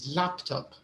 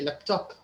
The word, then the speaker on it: laptop: be a little tricky it's like laptop the correct way is laptop but in libya many people say laptop right yeah it's laptop